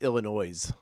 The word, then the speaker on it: Illinois: here in the south that's illinois oh sorry i went to school to learn to not pronounce the s they uh when it